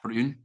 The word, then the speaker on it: Troon: I'm from Troon. Troon. Is that how you say it? Troon.